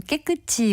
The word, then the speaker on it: 깨끗지: 인정해서 깨끗지 된 겁니다 발음은 깨끗지 이고요 글로 쓸 때는 깨지라고 씁니다 참고로 이처럼 어 음절의